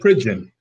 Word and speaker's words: Pridgen: You're going to have to pronounce his last name for me again. Pridgen.